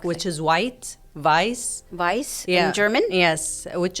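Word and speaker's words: weiß: part you have to teach them how to pronounce yeah the EI goes like Vice for example like which is white vice vice in german yes which is white um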